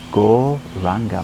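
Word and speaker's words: Gauranga: Mantra we'll be using is Go Ranga mantra. 4 syllables. Go Ra Anga.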